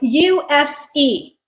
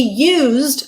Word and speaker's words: use: First word, use. Use. When we pronounce it with a z sound, which is voiced, it becomes a verb. He used a screwdriver to assemble the bookcase.